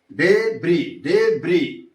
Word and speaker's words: debris: So the stress falls on the third syllable debris debris that is that is not liant that is leftant left. So as falls on the second syllable.